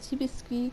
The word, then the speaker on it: Chibiski: I've been Chibiski, that is still how I pronounce my name.